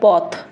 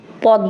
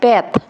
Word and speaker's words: Path: এখন আমি কইলাম এটা কোন ডিকশনারি থেকে উচ্চারণ করে বাই করে নিয়ে এলো যে কি রে, হইব পেত বা পাথ, মানে পয়কারে পাথ বা প্যাথ, এটা হবে স্টার প্যাথ বা পাথ।